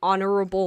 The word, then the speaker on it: honorable: dictates the indefinite article use a before words where you pronounce the other or the letter h such as a hat a house or a happy cat use and before any words you don't pronounce the letter h such as an herb or an hour or an honorable man so historical you definitely